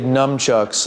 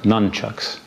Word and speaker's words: nunchucks: constitutional grounds you made numchucks legal in new york well actually it's pronounced nunchucks right numchucks why are